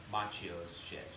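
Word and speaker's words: Macchio: fool you server Ralph Matthew a shot it's machio oh yeah okay I call the same publicist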